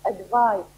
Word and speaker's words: advise: advise you to buy a good dictionary the pronunciation is advised advice so it is said here it is